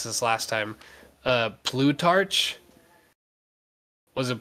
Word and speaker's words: Plutarch: we tried to pronounce this last time uh Plutarch was it Blue Torch yeah yes that's the proper pronunciation right so at least I got that